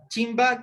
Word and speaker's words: chimba: Chimba que es trenza, ¿ya? Aquí voy a ponerle, se podría decir chimpa, pero se pronuncia chimba, chimba, la trenza, ¿ya?